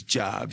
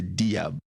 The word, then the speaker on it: Dia: last name Dia spelled Dia the correct French pronunciation is job because in Senegalese there was a French colony and we speak French but most people here say diab he goes by Papa Dia here Papa was